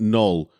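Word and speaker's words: Knull: but putting a Care on the front by pronouncing it null null and void it's the kind of character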